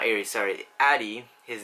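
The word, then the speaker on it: Arie: with my friend airy I'm not area sorry Addie his name is spelt a rie but it's pronounced addy my friend jeslin and we're gonna be paying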